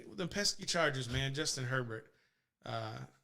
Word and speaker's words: Herbert: man justin herbert uh have you ever heard his name pronounced airbag or urber like the french way i'm not french so i can't i'm not gonna properly pronounce it but yeah apparently uh some people are out there where yeah this is justin or burr or bay and i'm just like it looks like herbert to me like that good restaurant